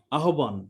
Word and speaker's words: আহ্বান: যেমন আহ্বান, হ্যাঁ, উচ্চারণটা কি? আহ্বান, তাই না? আহ্বান, আহ্বান, হয়ের সঙ্গে যখন কোনো কিছু যুক্ত হবে, আহ্বান।